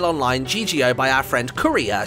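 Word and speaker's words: Kureha: So we've been invited to the game Gungale Online GGO by our friend Kuria. She's spelled K-U-R-E-H-A. I think it's technically pronounced Kuriha, or something like that.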